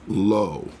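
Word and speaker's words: לא: Hebrew the word for not is would be pronounced lo and so the the the second table each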